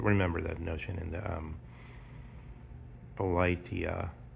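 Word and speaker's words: Πολιτεία: That remember that notion in the Politeia, I think is the correct pronunciation of the Plato's Republic in the Greek, Politeia or Polity, where the guardians have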